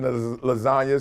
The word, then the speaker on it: lasagna: you know him uh the g is silent in lasagna so move like a